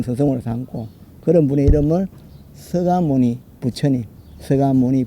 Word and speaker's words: 석가모니: 삼고 그런 분의 이름을 서가모니 부처님 서가모니 불 석가모니 그러지 말고 부드럽게 쓸 때는 석가모니로 쓰지만 읽을 때는 나무 서가모니 불 서가모니불 하면 자연스럽게 발음이 되죠.